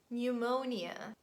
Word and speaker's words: pneumonia: say him autumn column letter p is always silent at the beginning of words in such combinations p s p t and p n so it's not pronounced and we say psychology psychic pneumonia pterodactyl another random word